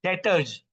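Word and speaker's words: debtors: डेटर्स। B silent है। डेटर्स कहा जाता है।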